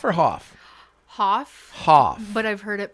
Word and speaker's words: Hauf: and we've got Hoff is it Huff or Hoff Hoff Hoff but I've heard it pronounced both ways okay no relation to David